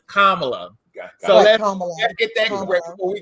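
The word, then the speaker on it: Kamala: door for us and the correct way to pronounce her name is kamla let get that before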